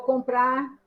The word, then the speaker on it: comprar: Eu vou comprar, tá?